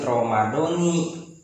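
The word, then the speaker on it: رمضانِ: Itu lafaz Ramadoni harus dijarkan. Jadi an adai fardi ramadoni, begitu membacanya, harus ramadoni karena itu diidofatihi lima ba'dahu, karena diidofatan kembali kepada kalimat setelah lafaz Ramadan, yaitu lafaz hadhihi sanati.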